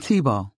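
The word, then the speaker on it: Thibault: thought you were talking to the baby I'm TBO how do you spell that t h i b a UL good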